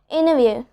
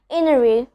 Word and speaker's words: interview: Interview, international, advantage. So here in all of these words, I'm not pronouncing the T, I'm not pronouncing the T sound, and I'm telling it as itself, okay? Interview, international, advantage.